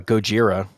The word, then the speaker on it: Gojira: know the band uh Gojira their name is from the Japanese pronunciation I think it's Japanese of Godzilla yep that's a what